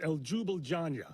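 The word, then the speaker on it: Ljubljana: I don't know how to pronounce these. Okay. But Slovenia is El Jubila.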